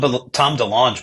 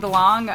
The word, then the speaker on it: DeLonge: to Blink-182 or Tom DeLonge, I think you should send him Friends with Aliens. Is it DeLonge or DeLonge? DeLonge? I think I've heard DeLonge. I think it's DeLonge, yeah. With the hard G.